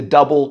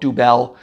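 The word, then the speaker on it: Dubbel: 1930s I think the double came out first d-u-bbel and it's pronounced that way double it looks some people want to call it dubel or uh triple it's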